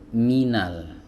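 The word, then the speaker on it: مِنَ: dibaca dengan sempurna teman-teman Terkadang ada yang membacanya itu tidak sempurna seperti ini misalnya minal-menal nah ini kasrahnya tidak sempurna ya Jadi bukan menang tapi Minal Nah untuk menyempurnakannya teman-teman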